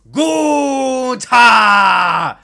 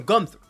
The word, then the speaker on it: Gunther: Because, in German, it's Gunta.